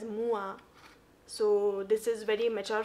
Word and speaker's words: moi: good at french and it is moi and if i'm not wrong it is pronounced as mua so this is very